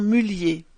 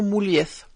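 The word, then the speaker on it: Mulliez: groupe de distribution Auchan, qui prononce son nom Mullier et non Moulieth, même si ses ancêtres sont d'origine espagnole parce que sa famille vit dans le nord de la France et leur nom est prononcé de cette façon depuis des générations.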